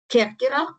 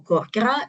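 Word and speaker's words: Kerkyra: So the name of the Corfu, of the Kerkera Island, is not the exception, because historically Kerkera or Korkera, different pronunciations, it's the name of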